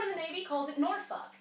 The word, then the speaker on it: Norfolk: mean to be fair you're not really supposed to pronounce the L anyway noruk yeah it like